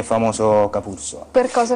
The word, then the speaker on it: Capurso: Capurso. Ho sbagliato l'accento. No, è giusto.